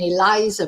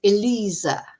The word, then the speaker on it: Eliza: And then she explained to me how to pronounce uh cuz I was saying Eliza, probably. That's the Spanish pronunciation, but it's Eliza.